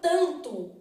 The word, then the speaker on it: tanto: pra gente na palavra tanto o n não é pronunciado então eu tenho isso